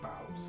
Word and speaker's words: boughs: or from uh boughs I I pronounce it bows bows is that how they pronounce it I think so yeah that's why I